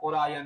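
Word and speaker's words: Orion: अब इसके बाद है ओरायन या ओरियन। दोनों वर्ड हम लोग प्रोनाउंस करते हैं। कोई दिक्कत नहीं है।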